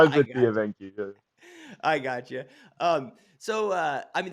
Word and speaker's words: Evenki: Yeah, now So well, it's def- dude, when you were living remotely with the it's a Vinky, am I saying it right? Evenki, yeah, the Yeah.